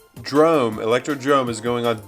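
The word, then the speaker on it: Electrodrome: It's not Electro-Dome. It's Electro-Drome. It's like the Bernstein Bears and the Bernstein Bears. It's the Mandela effect. It's Electro-Drome, and it always has been. Drome, Electro-Drome is going on D tier.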